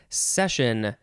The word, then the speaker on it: cession: It is spelled like the word session with an S, but the first letter is a C because clearly we are in the C's in this dictionary, not in the S's.